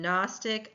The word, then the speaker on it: Gnostic: And in Gnostic, I cross off the g sound, the g sound, and start with the n.